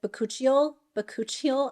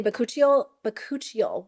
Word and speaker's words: bakuchiol: And then it also comes with bakuchiol.